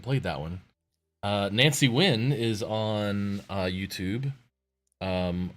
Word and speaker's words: Nguyen: weird I haven't played that one uh Nancy Nguyen is on uh YouTube um or I pronounce it when sorry if I'm pronouncing it my friend growing